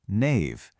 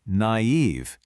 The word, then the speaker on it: naive: The perfect example, of course, is the word naive. Without those two little dots, you might be tempted to read it as knave. But the diaeresis over the I makes it perfectly clear that you say naive, pronouncing both the A and the I sounds.